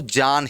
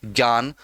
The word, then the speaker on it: ज्ञान: लेकिन सही उच्चारण तो ज्ञान ही होता है, ज्ञान नहीं होता।